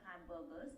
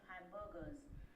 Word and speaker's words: hamburgers: about the sale of hamburgers now look at the pronunciation for hamburgers well it is pronounced together right and the r in Burgers is not prominent right however if you